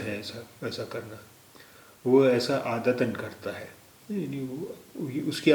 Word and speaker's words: عادتاً: اب یہ تے کے بعد الف دو زبر جڑ گیا تو اس کا اچارن ہو گیا، اس کا تلفظ ہو گیا عادتاً.